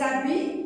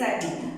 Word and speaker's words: habit: L'automne, en automne, tu portes des habits. Alors, habit, il y a un H muet qui ne se prononce pas.